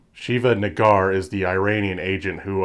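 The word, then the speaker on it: Shiva Negar: not saying this word this is how you pronounce her name shiva Naggar is the Iranian agent who of course is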